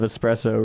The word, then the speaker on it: espresso: I hate it when people say I don't like it when people say espresso. Espresso. There's no X in espresso.